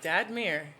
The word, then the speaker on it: Dadmehr: Dadmehr.